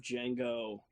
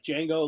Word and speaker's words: Django: The D is silent.